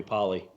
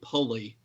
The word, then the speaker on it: Polley: Well, if people listening to this, Corey, right now, they're hearing his name pronounced as Tommy Pulley, which that was Musburger's thing. You always called him Pulley, and there's no cue.